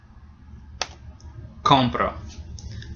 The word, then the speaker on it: compro: for that for com compro so make sure you get that stressed correctly the first syll gets stressed compro or yo